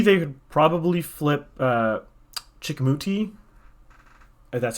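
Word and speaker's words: Chicoutimi: half at 40 they could probably flip uh chickamauti that's how you pronounce that and then once you get coast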